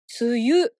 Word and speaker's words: 梅雨: 梅も雨も梅雨とは普段は読まないですよね。